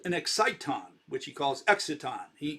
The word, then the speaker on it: exciton: should be really pronounced exciton i like that better it also rhymes with phonon and uh photon exciton right they're all